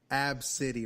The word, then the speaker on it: ABCDE: And she pronounced it ABCDE. Oh, my God. Kind of like Rack City. Rack City. Ab City right there, dog.